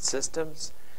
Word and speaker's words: CSDMS: for the first time this acronym csdms uh no vows we pronounce it systems and so sometimes you're